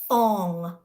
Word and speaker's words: Fong: let's say it together Fong it sounds like song so I'm helping them I know I'm helping them at this point right like I'm giving them tips phonetically it's like f-o-n-g um and in those